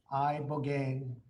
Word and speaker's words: Ibogaine: Ibogaine. Remember the name. Is that pronounced relatively properly, would you say?